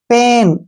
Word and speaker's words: pain: अगर AI के बाद N आता है या फिर L आता है तो A का जो प्रोनाउंस है वो हम छोटी ए के रूप में करेंगे। यहाँ देखिए पेन, ठीक है ना, PAIN पेन, BAIL बेल।